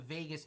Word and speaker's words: vagus: So there's this nerve in your body called the vagus nerve. It's not spelled like Vegas in Vegas, even though I thought that was funny.